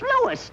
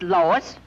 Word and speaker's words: Louis: Me name is Louis, not Lois. Gee whiz, everybody interpolates me name wrong. It's Louis. L-O-U-I-S.